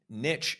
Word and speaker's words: niche: Niche is the original historical pronunciation, and it's the most common.